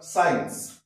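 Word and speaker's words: science: Sorry, S এর পরে রয়েছে, তাহলে আফটার এস, এস এর পরে সি রয়েছে, তাই এখানে সি সাইলেন্ট। আবার সায়েন্স, এস সি আই এন সি, সায়েন্স, সি সাইলেন্ট, কেন?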